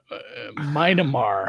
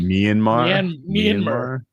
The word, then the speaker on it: Myanmar: Minimar, how do you say that one? Myanmar Myanmar is also qualified.